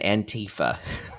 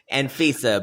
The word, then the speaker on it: Anfisa: George and Antifa, otherwise known as Anfisa, but someone said Antifa I did earlier. say it wrong.